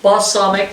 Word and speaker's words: balsamic: i'm using the balsamic that's pronounced balsamic not bust something like i just said we'll stir that in